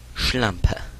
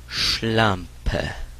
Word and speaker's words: Schlampe: We'll start off with bitch, and it is Schlampe. Schlampe. Schlampe. You have to emphasize the SCH at the beginning of it. Kind of a low tone.